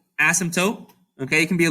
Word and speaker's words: asymptote: different words together um the trick to pronouncing it is that the p is basically silent okay the p is there but you're not really going to say it yeah and you're basically going to say asymptote okay it can be